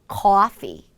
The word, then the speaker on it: coffee: R을 살짝 붙여서 하고 놀란 그 입술, 이 모양, 입꼬리의 힘을 살짝 빼는 소리까지 연결을 하시면서 소리를 냅니다. 커피가 아니라 coffee, coffee.